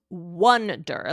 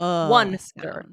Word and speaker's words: wonder: okay good but it's pronounced Wonder like the number one like Wonder yeah right um this